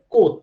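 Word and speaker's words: Comte: এবং অগাস্ট কমতের নামটা দিতে হবে, অগাস্ট কমতের নামটা মেনশন করতে হবে। প্রোনাউন্সিয়েশনটা হবে কোত, ঠিক আছে? কমতে না, আচ্ছা প্রোনাউন্সিয়েশনটা হবে কোত, অগাস্ট কোত।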